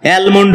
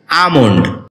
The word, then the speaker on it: almond: আমন্ড এটাকে আমরা অ্যালমোন্ড বলে থাকি যার সঠিক উচ্চারণ হচ্ছে আমন্ড যেখানে এল এর উচ্চারণটি উজ্র থাকবে শব্দটি বাক্যে